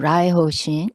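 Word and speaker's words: 来訪神: In Japanese pronunciation, Raiho Shin, and Nebang Shin in Korean pronunciation of the Chinese characters.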